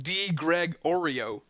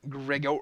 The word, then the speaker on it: Gregorio: I know hey Greg you've been mispronouncing my name it's D Greg Oreo not grego I don't know Oreo like a cookie D Greg Oreo gregorizing